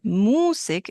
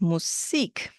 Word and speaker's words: Musik: Musik, meaning music, but there's a shift in syllable stress. It's not Musik, it's Musik.